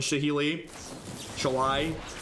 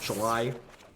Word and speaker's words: Shalai: You need ways to clear out things like Lyra and Shahili. Shalai. The correct way to pronounce that card, probably.